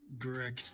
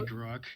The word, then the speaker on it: Gruck: Grick's turn. Let's go back. Rick, yeah. Grick's turn. Time, boys. Actually, it's actually Gruck. You guys have been saying it wrong the whole time.